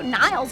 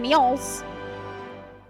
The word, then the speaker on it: Niles: Oh, Niles is how you say it. I've been saying Neil's.